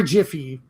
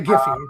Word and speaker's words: Giphy: Giphy is correct. Or Jiffy. Which I don't know which side of the aisle we're on. Whichever one you want. Okay, Giphy cuz that's the correct way to say it. That's the right one, yeah.